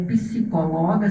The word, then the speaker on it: psicóloga: Ok, o meu Instagram é psicóloga, sem acento, o P do psicóloga é mudo, underline palhaca.